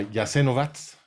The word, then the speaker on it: Jasenovac: la ustacha se llamaba yasen vats si lo ves escrito en en en alfabeto latino parece que dice jasenovac pero la pronunciación es jasenovac y eh ahí estaban